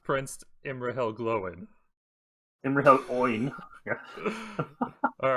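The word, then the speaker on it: Imrahil: never come out of fighting i think prince emer hill had some claim to the kingship of gondor it's pronounced prince emery hell glowing and yeah all right so emerald he's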